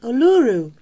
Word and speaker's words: Uluru: the middle of Australia local people call it uluru can you spell it